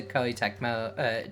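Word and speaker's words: Koei Tecmo: or was it just kind of left to Ky Techmo?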